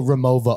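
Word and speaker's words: Rimowa: it made sense so you just pronounced the W like the V big vagina yeah so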